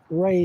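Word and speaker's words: Rai: He's called A, and it's spelled Ray, spelled R-A-I.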